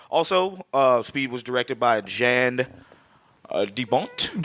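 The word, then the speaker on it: Jan de Bont: Oh, also, Speed was directed by Jan DeBont. John DeBont. He says John. Jan. He says don't John. know. I say Jan.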